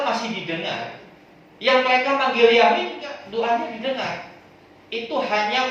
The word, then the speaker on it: Yahweh: Ya, bahasa Ibrani menyebut Tuhan, menyebut Allah itu pakai 4 huruf ini. YHWH, kepanjangan menyebut YHWH. Makanya pengucapannya diucapkan dengan bahasa Yahweh.